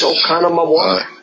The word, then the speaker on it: Oconomowoc: Do I pronounce that right, Dr. Michaels, Oconomowoc?